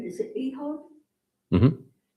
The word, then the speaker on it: Ehud: I don't know how to pronounce his name. Is it Ehud? Mhm. Ehud a dagger through his stomach.